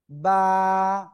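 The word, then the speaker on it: ب: শিখলাম বা অক্ষরটা শিখলাম কি অক্ষর বা দুই ঠোটের ভিজা অংশ থেকে উচ্চারিত হয়। বা ক্লিয়ার।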